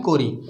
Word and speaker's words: corrie: ठीक है, तो ये स्पेलिंग है जिसको हम बोलते हैं कोरी, CORRIE, कोरी भी बोलते हैं और किर्क भी बोलते हैं।